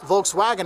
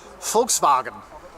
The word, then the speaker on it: Volkswagen: well Volkswagen remember here in Germany a v actually makes an F sound okay so it's folks and then the W doesn't make a w sound it makes a v sound I know it's confusing so it's not Volkswagen it's Volkswagen Volkswagen I can do that